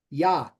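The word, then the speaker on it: יה: it's not pronounced right when you have a doggish in there and this is a little beyond what we're doing it's called a mop peek and you see this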